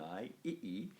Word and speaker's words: ii: So that nominative plural, we either go ei or sometimes ii, with a short I followed by a long I, ii.